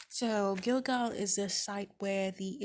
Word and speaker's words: Gilgal: scroll through my laptop to see how they pronounce it gilgal okay it's called gilgal so gilgal is the site where the israelites camped as